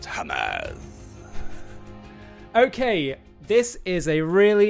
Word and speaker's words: Hamas: Well, Ollie, first of all, it's pronounced Hamas.